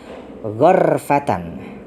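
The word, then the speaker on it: غَرْفَةً: Qara'a Ibnu Katsirin, membaca Ibnu Katsir, wa Nafi'un dan Imam Nafi, wa Abu Amrin ghurfatan bi fathil ghaini. Jadi ini dengan lafaz ghurfatan bi fathil ghaini dengan fathah huruf ghin.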